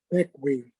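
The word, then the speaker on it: Bequia: can actually see where the tiny island of bikwa is located uh let people know doug how big is the island uh seven square miles um unlike its spelling it's it's pronounced backway thank you that's looking west at the sunset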